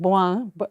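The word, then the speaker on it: Bohin: I've got it a French company here called boang b b o h i n bohen I don't know if you pronounce it that way or what but it's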